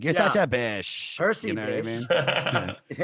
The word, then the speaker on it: Bysshe: I think in retrospect, Percy's middle name Bish, even though it's spelled Byssshe, is kind of groovy nowadays.